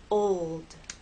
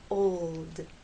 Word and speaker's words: old: example in the word old old the important thing here is to keep the tip of your tongue pressed against the bump behind your Upper Front Teeth old old it only comes